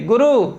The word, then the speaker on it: गुरु: और गुरु, हम लोग कहते हैं गुरु जी, गुरु, ये गलत है, गुरु शब्द होता है, गुरु।